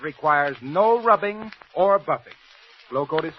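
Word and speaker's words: Glo-Coat: floor polish that requires no rubbing or buffing glow code is spelled g l o hyphen c o a t and by the way here's a reminder you save money by buying glow coat in the larger sizes remember just as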